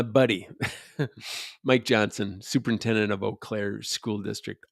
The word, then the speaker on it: Eau Claire: Actually, my buddy, Mike Johnson, superintendent of Eau Claire School District. Eau Claire. Yeah, spell that.